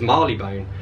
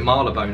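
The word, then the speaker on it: Marylebone: london called malabone road visitors from abroad often misread it as marley bone provincial britons tend to give it its full phonetic value mary le bone londoners are inclined to slur it to melbourne or something similar while those who live or work along it slurry even further something not far off now everyone calls it marla bone at least where i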